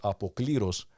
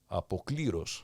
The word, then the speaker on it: απόκληρος: Although in order to get the music right, he says «απόκληρος», and puts the emphasis on the wrong syllable. Right. Apokliros.